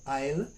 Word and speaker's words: isle: now isle is a very small island so i'll because the word island is isla nd so